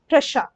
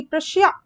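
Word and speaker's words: Prussia: जैसे रशा होता है ना, ये जो आपने लिखते हैं ऐसे, ये आप रशिया बोलते हैं, बट इसका प्रोनाउंसिएशन रशा होता है, प्रोनाउंसिएशन रशा होता है। वैसे ही प्रशिया ये नहीं है, ये प्रशा है, इसका राइट प्रोनाउंसिएशन।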